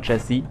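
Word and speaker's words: Jessie: Ja, normalerweise wird der Name, der so, wenn der so geschrieben ist, wird er eigentlich Jesse ausgesprochen.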